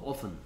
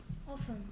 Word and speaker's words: often: often 발음은 t가 소리 안 나서 often. often.